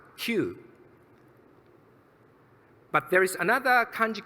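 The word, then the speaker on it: 九: In Japanese, the character for the number 9 is pronounced Q.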